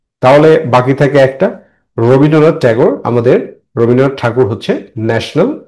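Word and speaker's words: Tagore: এখানে বলছে রবীন্দ্রনাথ ট্যাগোর ইংরেজিতে উচ্চারণটা ঠাকুর হয় না।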